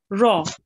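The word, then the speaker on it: ر: wrong well done and make sure to round your mouth with the raw as well okay because um you will have to pronounce it thickly a bit okay Raw foreign well done now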